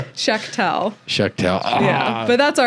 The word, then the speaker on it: Shechtel: And we're joined by Shechtel. Did I pronounce that right?